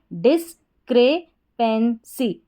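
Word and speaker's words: discrepancy: तो आप इसको इस तरीके से, जो लास्ट में दे रखा है PAN को पेन करके और CY को C, पेंसी, इसको भी आप तोड़ के पढ़ सकते हैं।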